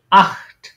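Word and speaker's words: acht: যে যেকোনো একটা থাকবে তখন এটা উচ্চারণ হবে একদম খ এর মত এই যে এখানে যেটা দেখেছেন না এই খ এর মত উচ্চারণ হবে যেমন আহত এটা কি আহ আট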